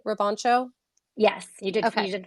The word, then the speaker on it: Robancho: is a unique poe app uh did i pronounce your last name correctly roboncho yes you did you did fantastic okay good